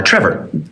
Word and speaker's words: Trevor: a quiet syllable now the final two letters of my name are o r but when you say my name it sounds like er trevor the last syllable is so quick that you can't hear the o r that's because the strong